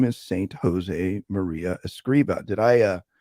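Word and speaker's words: Escrivá: but if we agree we're good it is escriba oh it's okay so my wife is Espanola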